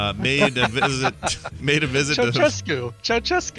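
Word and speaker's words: Ceaușescu: Ceausescu. Is that how you say it? Ceausescu. Yeah.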